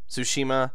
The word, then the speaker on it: Tsushima: For like a couple minutes during the thing, I was calling it Ghost of Tsushima, and then I'm like, oh right, the T is silent.